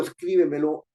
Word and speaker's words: Escríbemelo: así no escribe cierto Entonces cuando digo Escríbemelo la fuerza de voz está en scribémelo escribimelo Escríbemelo no y escríbeme escribe Escríbemelo no no son las formas en las cuales está pronunciando esa palabra en la fuerza de la voz está en la anterior a la anterior Esto es lo que